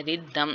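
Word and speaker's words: rhythm: साथ टी एच का sound आ रहा है, रिदम यहाँ पे एच वाई साइलेंट है, ठीक है, और टी एच का साउंड आ रहा है।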